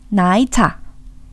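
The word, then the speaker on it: 奶茶: 나이차. 나이차라고 하기도 하고 홍콩에서는 이 N 발음과 L 발음, 그러니까 니은 발음과 리을 발음이 병행해서 쓰이기도 해요. 그러니까 나이차라고 해도 되지만 라이차라고 하셔도 돼요.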